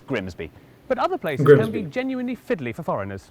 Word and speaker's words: Grimsby: But what if we told you it was pronounced Grimis? No. We'd be lying, it's Grimsby.